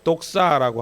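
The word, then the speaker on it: δόξα: 영광이란 말은 헬라어로 독사라고 합니다. 독사라고 읽고요.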